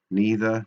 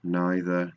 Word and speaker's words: neither: you could also say neither has two pronunciations neither neither nor all of those